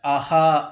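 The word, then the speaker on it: अः: அதை விசர்க்கம் அப்படின்னு சொல்லிக்கலாம் அ அப்படிங்கறதுக்கு பக்கத்துல இருக்கு அதை அஹா அப்படின்னு உச்சரிக்கிறோம் இதுவே ஆ அப்படிங்கறதுக்கு பக்கத்துல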